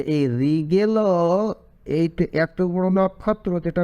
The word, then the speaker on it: রিগেল: বলে তার থেকেও কিন্তু রিগেল অনেক বড় রিগেল আগে কি বলছিলাম রিগাল উচ্চারণটা ঠিক হয় নাই রিগেল হবে সেটা হলো 97 97